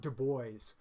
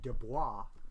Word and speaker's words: Du Bois: at the beginning of the 20th century about du bois i spent part of my childhood in louisiana so i always called him w.e.b dubois because i went to school with a bunch